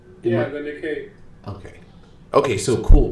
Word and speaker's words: Nikkei: The Nikkei. Okay, so cool. My over-pronunciation of what I would normally say is Nikki, but I'm trying to make it sound more complex. I was right.